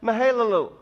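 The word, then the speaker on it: Mahalalel: years old see that 70 when he had mihaela loo and that's how you pronounce it believed on mihaela loo and Adam was 325 years old when mahalia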